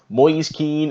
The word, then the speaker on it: Moise Kean: Everton summer has finally drawn to a close Maurice keen is an Everton player and that is apparently how you do pronounce Maurice keed the man himself said so